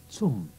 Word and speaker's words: zum: Zum Haupteingang, bitte. Zum. Try saying it. Zum. The sound at the beginning is like T and S put together. Tss. Zum.